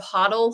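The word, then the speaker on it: HODL: typo like if you've ever heard of hoddle hold on for dear life h o DL it's just a thing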